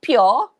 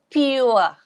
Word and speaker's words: pure: Yeah, maybe some of you will say pure. Itu yang biasa orang-orang kita sebut pure, but the pronunciation, if you refer to Oxford Dictionary, will be pure. There's pa ditambah bunyi ia, and then ua.